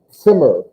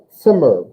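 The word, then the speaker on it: Zimmer: in german it's pronounced simmer simmer so i always feel like there's like a a t sound in front of the z sound simmer and if you do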